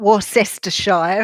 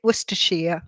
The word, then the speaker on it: Worcestershire: didn't realize that Sarah you're from Worcestershire not war sister Shire as some people pronounce it was to shear hmm yes Oregon for